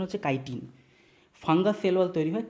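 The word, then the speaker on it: chitin: এটার উচ্চারণ কাইটিন friends, চিটিন নয়, অনেকে চিটিন চিটিন বলে, চিটিন চাটিন কিছু না, এটার উচ্চারণ হচ্ছে কাইটিন।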